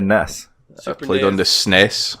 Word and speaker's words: NES: NESS? NES. Is there reading? Ness. The correct So on pronunciation. NES and NES people are fucking wrong. Yeah, it's NES. It's NES. With a soft Ness, N. not Nez.